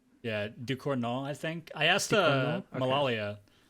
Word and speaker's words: Ducournau: Yeah, it's like Decorno. Yeah, Ducournau, I think.